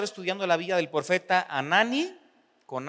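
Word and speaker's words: Hanani: con el primer profeta que es anani se escribe con h al principio y lo demás es como suena anani vamos a hacer una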